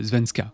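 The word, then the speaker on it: svenska: rank et pour information son pseudo signifie suédois dans la langue suédoise et se prononce quelque chose comme zvenska mais pour les besoins de cette vidéo bah moi je vais le prononcer zveridge bien qu'il semble apprécier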